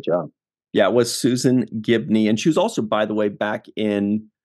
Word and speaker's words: Gibney: But she did it, as well as the emotion Susan behind Gibley? It. Gibney, I believe.